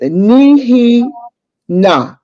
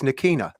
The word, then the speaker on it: Nikina: realms of being with Nihi Na. Is that how you pronounce her name? Nah, Cafonia, we're going to have to take you off the stage on that one. No, it's real simple. It's Nikina.